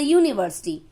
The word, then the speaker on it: university: He works as a professor in a university. U. It is a vowel, but here it is making the sound ya.